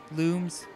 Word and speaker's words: Lums: can find some more Lums which are actually pronounce looms at least if you play the French version of this one thing